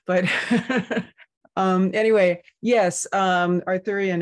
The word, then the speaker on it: Arthurian: um anyway yes um Arthurian as in King Arthur and the Knights of the Round Table um which which you